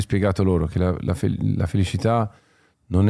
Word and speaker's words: felicità: la felicità, la felicità, l'accento di Bocelli è toscano e quindi il suono della C è un po' particolare, infatti non dice propriamente felicità, cità città, ma la c diventa un po' una shelicità.